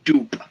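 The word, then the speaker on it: Doop: I don't even know how to spell that. D-O-O-P, Dupe.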